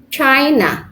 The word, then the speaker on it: China: Another example for noun is China. We have two syllables because it has two syllables.